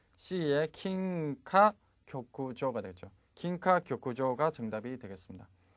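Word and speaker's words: 金科玉条: 발음은 C의 킹카 교쿠조가 되죠.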